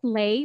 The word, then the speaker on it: Leigh: Think of it this way: the H is just a decoration. So it's Leigh, and again from